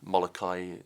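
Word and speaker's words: Molokai: And I flew across to the island, Molakai as it's pronounced, to Oahu is the swim.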